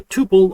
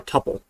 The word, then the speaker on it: tuple: A similar to a list, but is unchangeable, immutable, is called a tuple or a tuple. I think most people say tuple. Some people say tuple. I mean, it's spelled T-U-P-L-E.